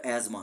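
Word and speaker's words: asthma: तो ये वर्ड एज्मा है। जो इल्म वाले लोग हैं वो जानते हैं कि ये वर्ड एज्मा है।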